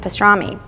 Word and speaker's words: pastrami: Pastrami rhymes with salami, pasterma, pastrami, and that's how pastrami was born.